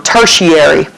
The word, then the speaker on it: tertiary: okay that's pronounced tary the ti gives you an sh sound um tertiary okay so by definition